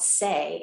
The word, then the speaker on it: Tse: Mudra is called Se, and it's spelled T-S-E.